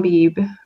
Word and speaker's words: Beebe: Similarly, John Beebe, is that how you pronounce yep. it? Yep, Beebe.